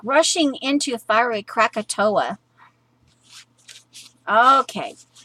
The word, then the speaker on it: Krakatoa: off like katoa pronounced Krakatoa okay okay so it's like rushing into a fiery Krakatoa okay it spelled differently but you pronounce it crack - a - toe - a Krakatoa Bubba shot the jukebox